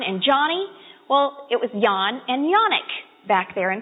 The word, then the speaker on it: Jan: he was a kid his real name was Yan but when he came to this country they looked at Jan and they said well we know how to pronounce that that's Jen so everybody calls him